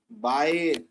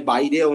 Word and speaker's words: Baire: ওটা বেয়ার category তো বলে নাকি? ঠিক আছে, অ্যাকচুয়ালি বেয়ার বলে না, ঠিক আছে। আমি অ্যাকচুয়ালি ইংলিশ প্রোনাউন্সিয়েশনটা জানি না, কিন্তু এটা বেয়ার ক্যাটাগরি নয়। এটা বেয়ারও নয়, বাইরেও নয়, কিছুই না, এটা এটা বাইর। প্রোনাউন্সিয়েশনটা ল্যাটিন।